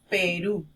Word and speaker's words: Perú: En este caso estamos viendo que Perú tiene la mayor fuerza de voz en la última sílaba.